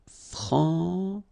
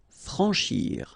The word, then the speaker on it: franchir: Franchir. Remember, C and H together. Sh. Franchir. A-N, en. Franchir.